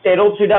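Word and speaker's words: Pteropsida: ठीक है, ये टेरोप्सिडा में पी साइलेंट रहेगा, साइलोप्सिडा में पी साइलेंट रहेगा।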